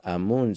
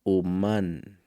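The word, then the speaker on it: אָמוֹן: En hebreo es amú. No se pronuncia amú, sino humán, que literalmente significa artífice, pues fue su instrumento de arte para la creación del mundo.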